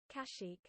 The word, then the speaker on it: Kashyyyk: a missile Ibaka seek and how does one pronounce this word let's have a look now Google this you you Kashyyyk cache chic there we go the more you know okay